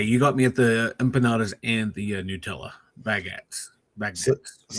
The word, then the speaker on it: empanadas: Um, how do how do you pronounce these? Empandas. Empanandas. Oh, empanadas.